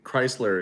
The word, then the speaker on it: Chrysler: Somebody said the way I say Chrysler is weird, but Chrysler. Yeah, Chrysler. Chrysler in our area, they say it like almost like it sounds like it's a Z sound.